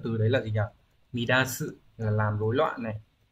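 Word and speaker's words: 乱す: Chữ loạn này thì còn có cách đọc khác ở dạng tha động từ, đấy là gì nhỉ? Midasu là làm rối loạn này, và âm onyomi là dan nhé.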